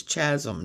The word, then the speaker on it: Chasm: was oh this is chasm. No, it's chasm. It's pronounced chasm. Just like chaos is spelled ch. So chasm. Great color combination of that